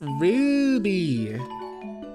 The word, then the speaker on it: Ruby: It's Ruby. You gotta say it with the roo. Like aroo.